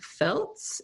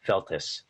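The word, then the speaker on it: Feltes: So you then are directly going head-to-head with Dan Feltz. Is that his last name? It's 2 syllables, Feltus.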